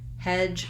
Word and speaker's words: hedge: example and except that instead of a d sound i have the j sound so i'm going to write that as a letter j that's how it sounds at the beginning of words hedge rhymes with words like edge and ledge make sure you push that j sound out and don't let it sound too much like a ch not hatch but my voice is